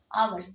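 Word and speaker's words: hours: 2 घंटे की इंग्लिश क्या लिखते हैं, 2 आवर, आवर्स इसको पढ़ता है, यच साइलेंट है।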